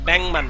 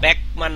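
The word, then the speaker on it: 백만: Awesome তারপরে ব্যাংমান, ব্যাংমান মানে কত? 10 লক্ষ। ব্যাংমান মানে কত? 10 লক্ষ এই যে গিয়কের পরে মিয়ম আসলে গিয়ক উচ্চারণ অং হয়, উচ্চারণ হবে ব্যাংমান, ব্যাকমান না, কি হবে?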